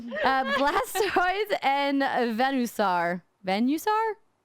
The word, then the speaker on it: Venusaur: Venusaur? Like Venus. Got it. Venus. Yeah, Venus.